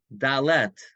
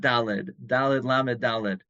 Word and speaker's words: dalet: letter dalid now by the way the correct pronunciation is dalet with a tough at the end or delas that's not dalid um yeah I just had the an issue